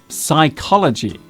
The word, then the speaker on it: psychology: misspelled word today is psychology this is a real stinker of a word to spell because it contains not one but two silent letters the P and H are silent another good example of